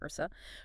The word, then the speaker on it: Yursa: Ranged attackers Kime, Strope, Timidor, and Yursa, pronounced Ursa, provide support from a distance.